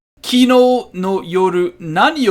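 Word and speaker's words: なに: Nani o tabemashita ka? Nani, it means what? Before the o particle, we do pronounce the I there. Sometimes we don't pronounce the I part, the nani there.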